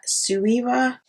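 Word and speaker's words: Suva: i tried to use the suever sueva that's how you pronounce it hydra liner now they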